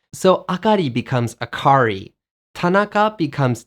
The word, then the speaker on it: Akari: put the emphasis on the second to last syllable. So Akari becomes Akari, Tanaka becomes Tanaka, and Yusuke becomes Yusuke.